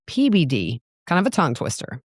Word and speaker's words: Peabody: It's not Peabody. Everybody from there is pronouncing it PBD.